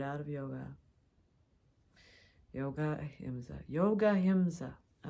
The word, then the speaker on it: yoga: words here and there we would start pronouncing the a at the end of things and yog became yoga tant became Tantra and